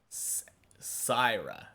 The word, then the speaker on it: Syra: Syra? Syra. Okay. So it's like a yuh, the Y sound.